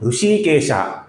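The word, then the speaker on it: हृषीकेशः: श है तो इसका उच्चारण कैसे होगा दोस्तों? ऋषिकेश न कि ऋषिकेशः ऋषिकेश ये गलत है। ऋषिकेशः ये सही है।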